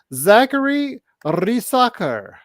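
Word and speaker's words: Zaccharie Risacher: of Europe I want to go ahead and pronounce his name correctly it is Zachary raker r um I've seen his videos he looks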